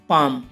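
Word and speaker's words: palm: For example guys, पाम। अब इसमें देखो गाइस, एम से पहले एल आया हुआ है तो एल साइलेंट है और इसका हिंदी होगी हथेली।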